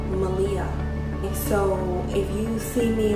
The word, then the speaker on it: Maleah: Her name, she told me it's pronounced Maleah.